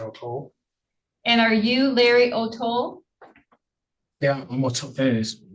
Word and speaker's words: O'Toole: And are you Larry O'Toole? Yeah, I'm O'Toole. It is pronounced O'Toole.